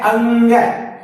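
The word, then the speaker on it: ङ: देखिए क, ख, ग, घ, अंग। तो अंग को मैंने यहाँ पर इसका उच्चारण करने के लिए इंग्लिश में इसका उच्चारण लिखा है अंग। तो इसको अंग कहते हैं और इस प्रकार 6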